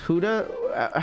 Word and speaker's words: Gouda: just like sliced a gouda by itself it's pronounced Huda how how about you